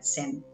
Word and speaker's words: zen: ella es maestra sem la palabra zen la hemos españolizado y la pronunciamos con z pero en realidad en la entrevista de hoy la vamos a pronunciar con su fonética que sería sem bueno lo primero vamos